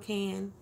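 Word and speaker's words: Cannes: Somebody told me that the name of the city is called Can, so the N-E-S at the end, just kind of pretend all of that is silent. It's just Can.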